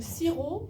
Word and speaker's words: sirop: Alors, le sirop, on prononce pas le P.